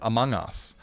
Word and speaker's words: Among Us: I got asked, right, why do I pronounce it Among Us instead of Among Us? And it's like, well, it's very simple, right? Because that's its name. And secondly, because if you listen to a British person say amongst, they don't say they say ong, among. Like, they do pronounce the O a lot more. The British pronounce the O a lot more than an ah. So it kind of actually is amongst.